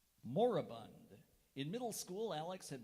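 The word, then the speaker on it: moribund: part of the now moraband literature Club moraband are there any alternate pronunciations there's moraband moraband m o r i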